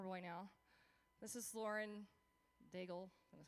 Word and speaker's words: Daigle: This is Lauren Daigle, that's how you say her name, version.